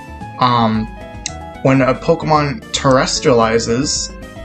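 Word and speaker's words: Terastallizes: um when a pokemon terrestrializes terrestrializes that's how i say it terrestrializes like extraterrestrial but like terrestri that's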